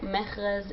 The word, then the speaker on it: Mehrez: it again yeah my name is can you spell it for us mechras is m-e-h-r-z that's in English yeah I can't